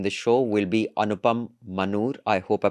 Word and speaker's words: Manur: Um I was just discussing if I have pronounced your surname correctly. It is Manur, right? Yeah, Anupam Manur.